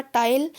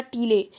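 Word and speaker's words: taille: देखिए इसका उत्तर होगा टाइल या टीले। सीधे राज्य को अदा किए जाने वाले प्रत्यक्ष कर का नाम क्या था? टाइल, या इसे टीले भी कह सकते हैं आप, TILE इसकी स्पेलिंग है,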